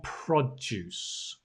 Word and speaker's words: produce: fields and finally farm produce now notice this word right the stress is on the prop produce farm produce why because it's a noun it's not the verb to produce no produce farm produce